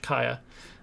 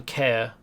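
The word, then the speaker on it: caer: different kaya in and that's how you would pronounce that c a e r in welsh kaya um rather than care as it appears um is stronghold or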